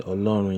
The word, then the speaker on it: Ọlọ́run: We have the O with a dot underneath. It makes it a short and sharp O. Say Ọlọ́run yín, that means your power, Yahweh, your power.